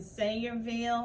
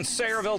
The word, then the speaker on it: Sayreville: It's in Sayreville.